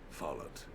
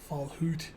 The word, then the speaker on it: Follett: He said, Follett. Well, I mean, that's better than Fallhoot, which is how I would have pronounced it on instinct.